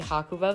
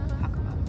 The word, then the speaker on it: Hakuba: of this video we are now going to hakua Valley I say it wrong a few times you'll notice there were multiple pronunciations and I tried my best but it's hakuba Valley and we're on our way there now